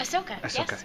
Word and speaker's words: Ahsoka: Ahsoka and am I saying saying it right ahoka yes it's a hard one to say I